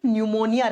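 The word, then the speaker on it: pneumonia: देखो, इसमें 'p ' अक्षर आता है। लेकिन जब इसका उच्चारण किया जाता है, तो 'p' साइलेंट रहता है। 'p' अक्षर मूक हो जाता है। यह निमोनिया बन जाता है।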